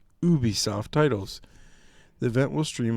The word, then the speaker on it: Ubisoft: and have an accent, everybody at the company that presents says Ubisoft. So I don't know where people came up with the fact that they know how to say it better.